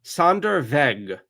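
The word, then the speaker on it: Sonderweg: Sand veg. The W is pronounced like a V in German. Sandereveg.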